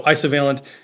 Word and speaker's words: Isovalent: have been updated so ISO veent is very similar uh you can also have isovalent bonds and so that's where the pronunciation comes from too so it's kind